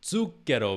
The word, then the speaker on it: zucchero: Zucchero means sugar. And the way he's singing this sweetly is he's having a very subtle t sound at the beginning, and then he's taking advantage of the double C, zucchero.